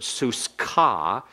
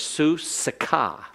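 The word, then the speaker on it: סוסך: Suska is your horse, and excuse me here, it's not a silent schwa, notice. It's su-sika. Su is an open syllable, and it's a long vowel. So that means the somic with a schwa has to begin the next syllable. It begins the next syllable, and so it's vocal.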